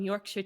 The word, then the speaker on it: Yorkshire: looks like you're gonna sell me some Yorkshire tea.